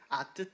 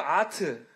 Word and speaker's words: 아뜨: 네, 네, Burn Up 안무의 포인트는 아뜨거워를 표현한 아뜨 댄스입니다. 아뜨요? 네, 아뜨 댄스. 아뜨거워의 아뜨. 네, 아뜨 댄스. 근데 대충 발음하면 또 아트.